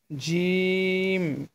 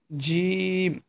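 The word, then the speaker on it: ج: তারপরের হরফটি হবে হচ্ছে জিম। জিম। এটা একটু মোটা হবে। জিম। আপনার জিহবার মাঝখান তার বরাবর ওপরের তালুর সঙ্গে লাগিয়ে জিম হরফটি উচ্চারণ করবেন।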